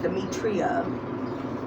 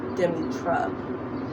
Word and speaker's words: Demetra: think at one point i was even pronouncing my name wrong i was like demetria when it was actually when it's actually demi trump and it's demi like demi moore d-e-m-i so think of demi moore baltimore but no but